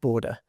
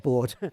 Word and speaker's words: Borde: clear this up that it's pronounced border, not board. Okay. Everyone seems to pronounce right. But I got that from Alan Goose and I think he knows how to pronounce his colleagueu's name.